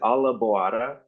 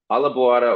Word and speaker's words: Alla Boara: Yeah, the name of the band is Alla Boara, and it's basically spelled like Alla, A-L-L-A, and then you can think of the word like boar with an A at the end. Boara is how it's pronounced.